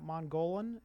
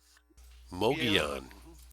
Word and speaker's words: Mogollon: His discoveries of 270 million-year-old mammal-like reptile tracks in Arizona on the, I don't know how you pronounce that, Mongolian. Is that right, Bill? Mogollon.